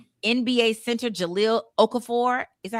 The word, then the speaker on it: Okafor: NBA center Jalil Okafor, is that how you say it? Okafur.